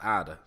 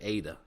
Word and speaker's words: Ida: that meets me knows how to pronounce Ida and don't say Ada.